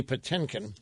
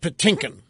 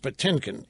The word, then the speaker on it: Patinkin: Now, I want to get to these sound bites of Mandy Patinkin. That's how you pronounce his name. It's not Patinkin. It's spelled Patinkin, but it's pronounced Patinkin.